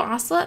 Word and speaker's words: ocelot: Ocelot. Like Camelot, but an ocelot.